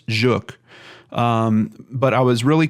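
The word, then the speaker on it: Żuk: I'm saying that right some people in the comments were trying to help me get that pronunciation A little bit better I believe it's juk um but I was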